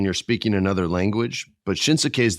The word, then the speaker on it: Shinsuke: You know, it's always hard when you're speaking another language, but Shinsuke's the man, or Shinsuke. You got to take that extra syllable out, Freddie.